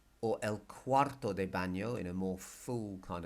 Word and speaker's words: baño: well which is junk food Mesa table el baño or el cuarto de baño in a more full kind of description is the bathroom but it's easy just to say el baño el baño and you spot the end with